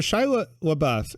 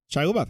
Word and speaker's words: Shia LaBeouf: motives yeah but so shiloh buff am i saying it right i'm sorry shia labeouf i said it right okay yeah um he's